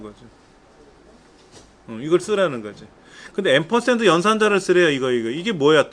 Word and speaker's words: 앰퍼샌드: 근데 앰퍼샌드 연산자를 쓰래요. 이게 뭐야 또? 앰퍼샌드, 이거 앰퍼샌드라고 읽어요? 앰퍼샌드라고 읽어요. 앰퍼샌드. 이거는 이제 AND라고도 읽어요. AND.